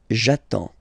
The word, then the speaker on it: j'attends: So the first form will be j'attends, j'attends, okay? You get D and S, well, basically you don't pronounce them, okay? And then you get only the sound attends, nasal here, en, j'attends, okay?